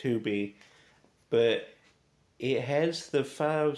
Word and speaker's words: Tubi: Not Tubi.